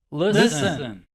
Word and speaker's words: listen: listen repeat the word listen list repeat the sounds what's the first sound what's the next sound what's the last sound study the part to learn by heart the t is silent what's the first sound